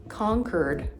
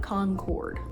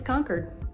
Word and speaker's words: Concord: It's Concord, not Concord. I know there's other cities in the United States pronounced Concord, but here it's Concord.